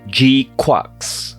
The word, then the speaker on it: GQuuuuuuX: for Mobile Suit gandam G quarks and yes that is how the title of this movie is pronounced and if you think